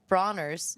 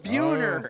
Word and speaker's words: Buhner: Love Bronner's. No, Buhner. Buhner. Close, Bueller.